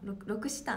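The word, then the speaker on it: L'Occitane: ロクシタン、ロクシタンって読むんだ、ロクシタンの金木犀です。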